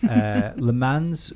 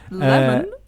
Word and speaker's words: Le Mans: Le Mans wins and, You can't say that and either, it's pronounced podiums. Le Mans. It's written Le Mans, and that's how I'm going to say it. Lemon?